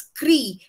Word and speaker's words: kri: stood for so uh kri is how we spell it it's not some abbreviations it's cree the sanskrit root of the verb to do like andresa i too